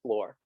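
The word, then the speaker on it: flor: so when the sherry is spelled f-l-o-r everybody just so if you ever see that word it's floor exactly and so that's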